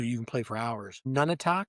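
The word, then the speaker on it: Nunatak: None, I think, is how it's pronounced. Nu n a t a k.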